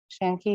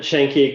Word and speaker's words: Shanky: to um shen chanky i think i pronounced it correctly so uh one one thing and uh i'll give a 15 second warning and then you can try to wrap up in 15 seconds so you don't have to abruptly cut thank you all right shanky you can begin thank you and and you did pronounce my name right thank you i'm good